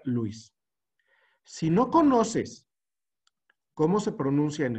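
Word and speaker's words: Lewis: leis este breviario cultural Cómo se pronuncia leguis o Luis Luis Luis a ver aquí está la versión gringa de la pronunciación y la versión mexicana de la pronunciación y hay una regla internacional para pronunciar la regla internacional es si la palabra no está en tu idioma natal que es el que estás hablando debes de pronunciarla en el idioma original y en el idioma original se pronuncia Luis si no conoces seon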